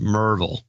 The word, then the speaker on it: Maryville: This is Michael Delosier, rhymes with enclosure, enclosure, from Maryville, pronounced Merville.